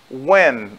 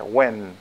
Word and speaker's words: when: Who, quem, what, o que, o qual, when. Lembrando que a pronúncia do when tem um N no final, tá? When. Então você não pode dizer when, é when.